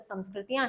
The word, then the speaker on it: संस्कृति: यहां संस्कृति शब्द का जो उच्चारण आप करते हैं वो है संस्कृति। उसी से इसका जो सामंजस्य बिठाएं क्योंकि संस्कृति सही जिस प्रकार से संस्कृत नहीं होता संस्कृत होता है ठीक वैसे ही संस्कृति